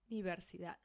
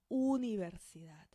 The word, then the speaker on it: universidad: And then the U. Universidad. Universidad. Not universidad, but universidad. Universidad.